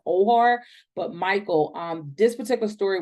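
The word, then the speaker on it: Oher: I want to say his last name is pronounced Ohar, but Michael.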